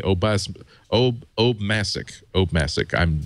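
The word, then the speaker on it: Obmascik: own last name it's it's Obama with a chick at the end see I that that's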